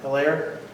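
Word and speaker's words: Helaire: How do you pronounce his last name? Hilaire.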